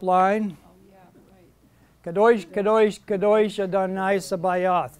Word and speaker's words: Sabaoth: Kadosh, kadosh, kadosh Adonai Sabaoth. The T is silent.